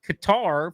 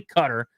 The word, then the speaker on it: Qatar: It's It's Qatar versus cutter where it's actually cutter.